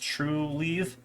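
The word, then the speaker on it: Trulieve: green thumb um Cura leaf and then it's pronounced true leave um are some of the bigger ones in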